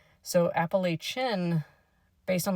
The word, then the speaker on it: Appalachian: the actual mountain range, it'd be more like Apalachen as opposed to shin like I say. So, Apalachen based on like a Spanish pronunciation might be more correct.